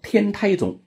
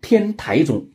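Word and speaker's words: 天台宗: 宗派叫做天台宗，也有人呢读成天台宗，因为中间这个字是个多音字，天台宗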